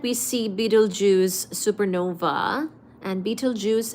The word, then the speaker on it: Betelgeuse: I hope that we see Betelgeuse supernova, and Betelgeuse is spelled as Betelgeuse, okay? Not like the Beetlejuice, like fruit juice.